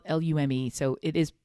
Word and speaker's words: Lume: deodorant which is the one that you see it's spelled l-u-m-e so it is pronounced lume because i hear him say it look i feel like an idiot saying it that way i'd rather call it loom but anyway their whole thing is that it's